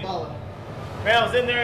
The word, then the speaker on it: Zabaia: How do you pronounce the last name? Zabaia.